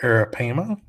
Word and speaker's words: arapaima: out there a 10-foot arapaima let me just pronounce this correctly here arapaima washed up on the shore of cape corals